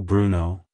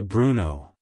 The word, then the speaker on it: Bruno: in the second syllable the stress is on the first syllable like hello Bruno goodbye Bruno if you found the